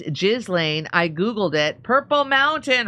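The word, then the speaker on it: Ghislaine: Pronounce Gelain. It's Jizlane.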